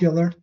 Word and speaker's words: Euler: Yeah, that's Euler. Yeah, pronounced Euler.